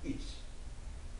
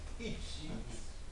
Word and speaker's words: Yeats: Mas, segundo uma professora irlandesa com quem eu estive em Manaus, me disse que eu pronunciasse Yeats, fazendo força no I, que seria a maneira correta de pronunciar.